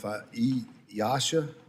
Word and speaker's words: EASA: regulators, such as, and I don't know if EASA, is that how you pronounce that?